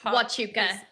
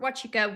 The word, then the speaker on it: Huachuca: Nobody had heard of Huachuca or Huachuca? Huachuca, okay, because he has with an H. Okay. Yeah, that's how it's spelled, but it's definitely.